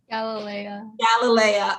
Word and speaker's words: Galilea: And I also thought, and I hope I pronounce it right, is it Galilea? Galilea. Okay, yes.